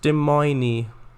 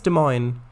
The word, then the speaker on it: Des Moines: i think it's pronounced demoiny demoiny i think it's des moines uh those field borders